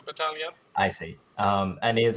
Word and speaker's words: Battaglia: Battaglia, Yeah, it's with a G as well. but I think you don't pronounce it I don't know. in Italian. So Battaglia.